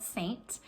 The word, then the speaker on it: Seint: s-e-i-n-t um it but pronounced saint just like the church and that's where it